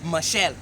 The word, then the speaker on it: Machel: Moses Machel. Oh, Okay. Yes. I got the right pronunciation now. His name is Marechal Samora Moses Machel.